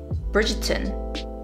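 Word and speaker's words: Bridgerton: bridget turn bridger trick bridget turn bridger turn bridgeton is how they pronounce it in the show my parents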